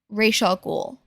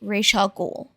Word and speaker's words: Ra's al Ghul: it's gonna continue, is they keep mispronouncing Ra's al Ghul. They keep saying Ra's al Ghul, which, correct me if I'm wrong, in all of the DC stuff that I've seen that has the Al Ghuls in it, it's always been pronounced Ra's al Ghul.